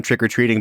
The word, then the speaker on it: trick-or-treating: that you've never been trick-or-treating by the way that you pronounce the like I put the emphasis on treat you put the emphasis on trick yeah trick-or-treating well I